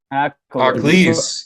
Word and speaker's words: Akhlys: It's spelled like Akhlys. Oh, Aklis? Aklis, yes, Did we yes.